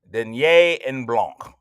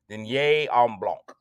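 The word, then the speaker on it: Dîner en Blanc: It's spelled DINER ENBLANC. Denier en Blanc. And if you didn't know how to say it, the host said it 4,336 times per hour. Denier en Blanc.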